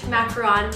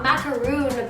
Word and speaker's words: macaron: macarons specifically the french macaron method not macaroon by the way i hate it when people say that it's macaron i'm probably not even saying it right myself but alas it's definitely not macaroon okay so here are